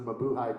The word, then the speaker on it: Mabuhay: to the buhei whereas its properly pronounced the Mabuhay Gardens now known as